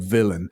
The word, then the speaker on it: Vylan: see a band called Bob Villain villain spelled with a why not an i and they were brilliant